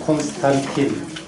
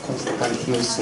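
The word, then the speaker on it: Constantinus: 영어로 하면 콘스탄틴, 디오클레시안 이러는데 라틴 발음으로 이제 디오클레티아누스 콘스탄티누스 황제가 로마 황제가 이렇게 이어지는데 이 황제 때 이제 박해가 아주 극심하게 이루어졌습니다.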